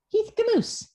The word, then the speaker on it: Heath Gmucs: Heath Gmucs. Rhymes with caboose.